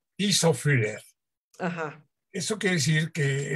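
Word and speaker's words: Tiszafüred: Según entendí, nació en este lugar en Hungría, ¿cómo se pronuncia? Tisafüller.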